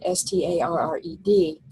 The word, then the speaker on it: starred: So for example, the word starred, S-T-A-R-R-E-D, we would say starred. And so it has technically 2 syllables, but it's only pronounced as 1.